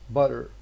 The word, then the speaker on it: butter: So in words like butter, some native speakers would prefer to pronounce this as butter.